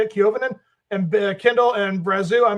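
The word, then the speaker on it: Koivunen: Kiovinen is how you say it, Kiovinen, and Kindle and Brazu.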